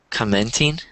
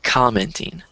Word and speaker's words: commenting: I think you stressed the second syllable instead of the first syllable. So you said commenting, but you should say commenting.